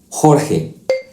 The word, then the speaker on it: Jorge: Just keep that throat sound strong like this. Juego, jirafa, jugo, Jorge.